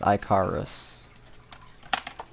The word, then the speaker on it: Icarus: It's Iicarus.